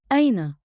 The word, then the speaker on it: أين: Say it slow. Aina. One beat like in with a light catch at the start.